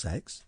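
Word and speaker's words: CeX: near a sex shop the computer exchange is pronounced sex we've discovered that already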